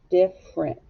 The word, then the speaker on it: different: the f sound diff the e is silent so i'm going to cross it out rent we hear the r and then we hear e that's a shorty n t diff rent different all right now change